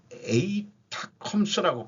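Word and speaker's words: ATACMS: 이번에 쏜 미국의 그 미사일은 에이타컴스라고 발음하더라고요.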